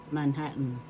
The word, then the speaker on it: Manhattan: Ang wikang English po na bigkas noon, silent A, Manhattan.